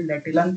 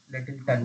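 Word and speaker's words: Lyttleton: दिया गया है, ये लेटिलन के द्वारा दिया गया है, लेटिलन के द्वारा, लेटिल्टन, लेटिल्टन सॉरी, लेटिल्टन, एल वाई एल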